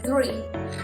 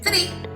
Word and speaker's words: three: Aquí hay que tener muy en cuenta la pronunciación, como que si estuviésemos exhalando, three, three. ¿Por qué? Porque en inglés, tree, cuando uno pronuncia tree, es para referirse a un árbol, porque de esa manera se escribe.